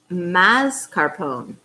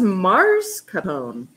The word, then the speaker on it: mascarpone: please show the lid it says mascarpone i wish that was mars capone i don't know i guess it's true yeah i have been pronouncing it wrong apparently i didn't realize